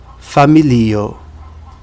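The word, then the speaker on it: familio: uma diferença de pronúncia em português a gente pronuncia família em esper a gente pronuncia fam percebe a diferença família famí na primeira a vogal tônica é o primeiro i na segunda que é esperant a vogal tônica é no segundo I família familo revolo se fosse a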